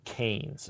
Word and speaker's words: Kanes: The the podcast is called Raising Canes. Uh, and it's raising just spelled like raising. But then the word can is KA nes.